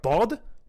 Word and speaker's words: ض: That's like the letter D but emphatic, with a constriction in your throat. Dhad?